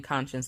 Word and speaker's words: conscience: i say it but i'm saying conscience like con science you know like if you spell it out like that all right so just